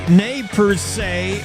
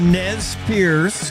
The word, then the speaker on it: Nez Perce: The Nez Perce, or the Nez Perce, depending on your pronunciation.